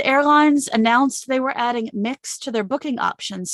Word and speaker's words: Mx: moving into greater use mx pronounced mix that's the gender neutral